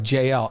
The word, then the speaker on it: JL: to help bla out my name is said like JL opposite of LJ so there we go I appreciate that JL there's San Antonio in